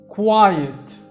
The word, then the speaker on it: quiet: الQU برضو كوا والIET بيعملوا الصوت اسمه آيت، زي كلمة diet مش diet يعني رجيم، هتبقى quiet مش quiet، لا quiet quiet be quiet.